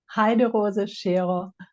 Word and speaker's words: Heiderose Scheerer: I have a special guest today, Heiderose Scheerer. I hope I pronounced that correctly. From That's Germany. close enough. Say it properly for me. Heiderose Scheerer. Okay. Heiderose Scheerer.